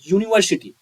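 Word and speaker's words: university: तो यहाँ देख रहे हैं यूनिवर्सिटी, यहाँ इस वर्ड का उच्चारण में यू आ रहा है, यानी यरलवा। तो इस वर्ड के पीछे ब्लैंक स्थान पे ए का प्रयोग किया जाएगा, न कि एन का।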